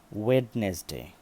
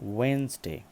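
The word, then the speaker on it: Wednesday: একটি দিনের নাম যেটাকে আমরা বলে থাকি যে ওয়েডনেস ডে ওয়েডনেস ডে বেশিরভাগ মানুষই এটাকে ওয়েডনেস ডে বলে থাকে বা কষ্ট হয় এটা উচ্চারণ করতে তাদের জন্য একটু সুবিধা করে দিচ্ছি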